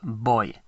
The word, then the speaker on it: voy: By the way, a V in Spanish is pronounced as a B. So it's not voy, but voy. Voy. Voy a.